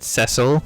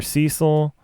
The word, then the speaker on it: Cecil: If we're going off the Japanese, French pronunciation, let's see. It would probably be Cecile.